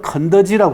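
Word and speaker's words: 肯德基: 닭을 주로 파는 데인데 닭을 집어넣지 않고 저를 글자를 집어넣는데 가만히 보시면 긍덕기는 중국말로는 건더지라고 합니다. 건더지.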